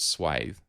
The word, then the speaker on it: swathe: use for it is swath width or some people pronounce it swathe but like lathe that's ultimately one of